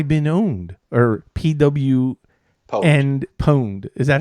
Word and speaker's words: pwned: Or PW and pwned. Is that how they say it? Have I been pwned?